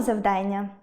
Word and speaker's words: завдання: звісно, буде читАння, як і завдАння, як і виконАння.